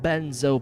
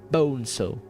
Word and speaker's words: Bonzo: "I'm supposed to give it to Bonzo Madrid?" Now another boy joined the conversation, a smaller boy, but still larger than Ender. Not Benzo Pisshead, Bonzo.